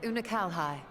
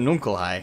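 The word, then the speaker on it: Unukalhai: shadow realm you remember unakal hai the unusual that's how you say his name troubles i kept saying uncle he explained the fate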